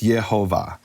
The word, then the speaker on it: Yehovah: Because I have this massive bulk of evidence where in all the other manuscripts, 1,721, it's Yehovah.